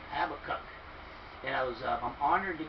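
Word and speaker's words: Habakkuk: love this guy's Habbakuk get the pronunciation right have a cup it was a honor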